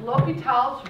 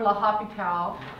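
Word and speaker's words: L'Hôpital: if I what happened I know I didn't mispronounce it but l'hopital's rule like students are going La hopital um lots of students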